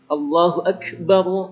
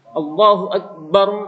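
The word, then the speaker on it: الله أكبر: Allahu akbar kayak qalqalah lagi. Pada Allahu akbar bar lah itu diperhatikan benar yang rancak azan nih, jangan sampai di huruf ba itu dipanjangkan ketika membaca Allahu akbar.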